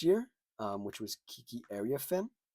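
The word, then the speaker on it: Iriafen: Um, which was Kiki Arafin.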